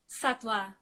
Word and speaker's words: Sattva: So how do you pronounce it? Sattva.